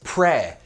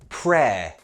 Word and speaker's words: prayer: The noun is prayer. Pronunciation, be very careful, prayer.